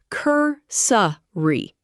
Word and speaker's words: cursory: Cursory, pronounced cur-sa-ry.